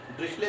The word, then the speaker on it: Dirichlet: Hence bye T silent है, ड्रिशले पढ़ते हैं इसको।